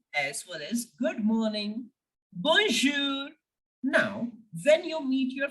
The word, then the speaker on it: bonjour: Okay, so that's why in the word bonjour, we are making the sound of R. Why? Because careful has R in it.